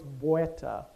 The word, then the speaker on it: beta: In one part of the Timucua-speaking world, that's just beta. In another part it's "bueta," with a little "w" sound.